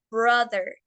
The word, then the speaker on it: brother: Entonces, tenemos bro, recordemos, O larga, y brother. En el caso de la palabra brother es una O corta. Entonces, la T y la H no se pronuncian der, se pronuncia the.